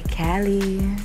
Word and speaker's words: Kaliii: beauty oh thank you to say my name right you guys say Cali my boy saying sexy